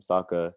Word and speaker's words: Saka: that one through lead arsenal with saka or sokka is that how you say his name saka yeah but i i know you're like you